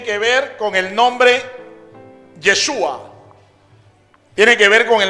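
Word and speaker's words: ישוע: las cuatro letras hebreas la primera letra es la yot después viene la chin después viene la baf y la última letra es la letra aji esto se pronuncia como yeshua Eso significa Dios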